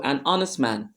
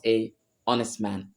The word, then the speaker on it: honest: say an hour the same thing applies to an honest man the letter A in the word honest it's not pronounced so the first sound you hear there